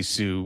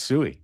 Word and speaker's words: Sui: I mean, honestly, I don't want to say Sue when it's Sui.